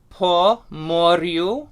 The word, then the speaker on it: Po Moryu: One other thing about Ukrainian, all R's are rolled. So every time you see an R, it's a R, you're going to roll your R.